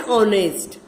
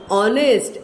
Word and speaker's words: honest: An honest. We don't say honest. We say honest. H says her. But here H is silent.